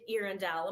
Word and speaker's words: Earendel: So the star of course, has been named Erindale. My am I pronouncing that correctly, excellent, perfect and that of course.